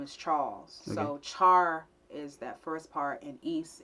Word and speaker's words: Charis: So in Greek, the name is pronounced charis or what have you, if I was speaking from that point.